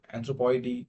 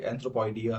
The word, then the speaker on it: Anthropoidea: So as of pronunciation, here Anthropoidy, Ciboidy, so these are the Latin pronunciation. अब कई English pronunciation में ये एंथ्रोपॉइडिया है, ये सिबॉइडिया है, तो दोनों ही ठीक है, बट I usually stick with the Latin one.